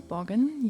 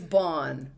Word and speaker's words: Baughan: It's Bon. Bon like Bon with a B.